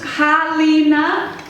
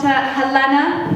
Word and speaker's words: Halina: It's a foreign name, and it's pronounced Halina, not Helena, Helena, or Halloumi.